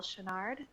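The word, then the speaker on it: Choinard: My name is Shinnard last name is spelled c h o i n a r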